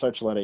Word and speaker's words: Archuleta: Did I pronounce that wrong? Archuleta? It's Archuleta, yeah. Archuleta, okay.